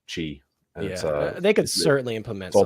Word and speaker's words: Qi: it's pronounced Q it's it looks like it's called Qi but it's pronounced Chi they could certainly Implement